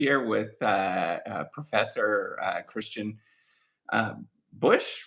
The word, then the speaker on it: Busch: here with Professor Christian uh, Busch, right? Is that how you say it? Or Bosch? Busch is perfect.